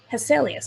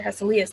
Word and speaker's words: Hesselius: um so let's talk dr hesselius or dr hasselius depending on how you want to pronounce his name he was actually designed